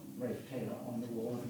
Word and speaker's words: Ralph: I found that his name was pronounced Ralph, because that's how it was written, phonetically, when other people referred to him.